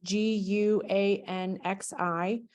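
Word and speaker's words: 关系: So what she said is, I read about the role of, I don't know how to pronounce this, is GUANXI in Chinese organizations, and was thinking about how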